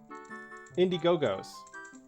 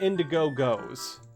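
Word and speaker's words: Indigo-Go's: What I was I always just pronounce as the Indiegogo. I just put that weird pause in there. It's the Indiegogo. Indiegogos. No, I call it the Indigo Goes. Not the Indiegogo.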